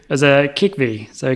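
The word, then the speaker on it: Kikhvi: here so it's a apologies again for the pronunciation was a kick V so k i k h VI I oh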